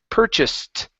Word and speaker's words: purchased: Okay, so instead of saying purchased, okay, this ED ending at the end sounds like a T, so it's purchased.